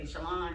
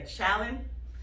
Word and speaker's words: Shaolin: a power tool because a lot of people don't say my name right yeah i would say shalon shaylin so when i have to introduce myself i have to say shaolin so that